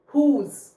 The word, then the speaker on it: whose: जब भी O vowel आता है then you will read H, you will read H एंड W will remain silent. सो जैसे कि who, whose.